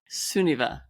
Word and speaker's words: Sunniva: say it for me suniva sunniva it's a good Norwegian name yes are you you're